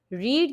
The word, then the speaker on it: read: रीड की third form भी रीड ही होती है, जिसे हम प्रोनाउंसिएशन में रेड कहते हैं, ठीक है।